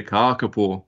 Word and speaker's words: kakapo: Yeah, kakapo. Kakapo. Yep. They've got a long A on them. If you have a short A, kaka means poo, but kaka means the parrot, so kakapo.